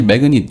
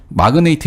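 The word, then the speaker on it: magnate: 그래서 마이스트로, 이 라틴어로요, 매그네이트 혹시 매그닛 이런 단어가 있는데요. 마그네틱이요? 아니요, 매그니트 혹은 매그닛. 마그네이트. 마그네이트. 예. 마그네이트 이렇게 발음하시면 편할 것 같습니다. 매그닛 하면 또 마그넷하고 또 헷갈리니까요.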